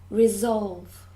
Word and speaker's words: resolve: good number to resolve so the stress is on the second syllable resolve resolve good number three